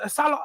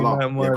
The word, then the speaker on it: Salah: My peers, Salah, like I feel like sometimes you need to look at the reality of how these play together.